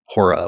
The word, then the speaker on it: ὥρα: Greek term, which is literally spelled and pronounced the same way, Hora, which is like omega, rho, alpha.